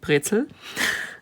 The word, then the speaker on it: Brezel: I mean, we are pretty much together with Bavaria, we are Brezel country, or like we pronounce it, Brezel.